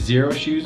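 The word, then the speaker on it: Xero Shoes: I think it's Zero Shoes, but it's spelled with an X.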